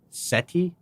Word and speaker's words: Seti: you at the temple of, I think it's pronounced Seti.